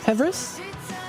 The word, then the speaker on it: PVRIS: This is PVRIS, or Pevris? That's how I pronounce it, I guess.